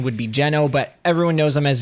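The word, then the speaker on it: Geno: talking about this game I didn't even mention Gino or he's actually pronounced jeno so correct pronunciation would be jeno but everyone knows him as Gino everyone loves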